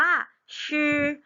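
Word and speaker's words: 吃: มือ ไหม คะ หาก คำ นี้ อ่าน ว่า ชื่อ ชื่อ ชื่อ แปล ว่า กิน นั่น เอง ค่ะ ขา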